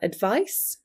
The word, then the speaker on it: advice: Here we have advice where the emphasis is on the vice.